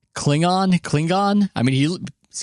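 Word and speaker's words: Clingan: he had that clip I pronounce it like Star Trek maze says cling it there we go I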